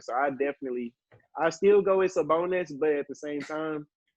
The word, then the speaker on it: Sabonis: I cannot pronounce his name. Sabonis, you said? Yes, Sabonis.